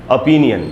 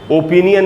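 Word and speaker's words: opinion: pronunciation है वह है ओपिनियन इसको ओपिनियन नहीं पढ़ना चाहिए ओ का साउंड नहीं है दोस्तों आधा अ है एक्चुअली ओपिनियन अपी आधा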